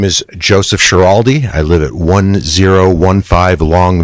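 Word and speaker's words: Schiraldi: Uh, as stated, my name is Joseph Shiraldi.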